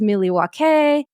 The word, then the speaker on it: Milwaukee: As Heather talked about on the episode, it's pronounced Milwaukee.